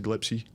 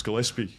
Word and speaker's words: Gillespie: Glepsy." Um because Sri Lankans can't pronounce Gillespie cuz cuz it's it's not that English isn't their first language and the S and the P they get mixed up.